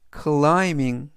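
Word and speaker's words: climbing: 되겠습니다 이번 단어는 클밍 클라밍 클라밍이라고 발음하시면 되겠고요 이때 알파벳 b n 이번 단어에서 무음이라 발음이 되지 않습니다 그래서 클라임이 아니라 클라이라고 발음하시면 되겠 요 강세는 앞부분에 있는 아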